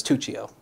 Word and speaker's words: Tuccio: Yeah, it's Tuccio.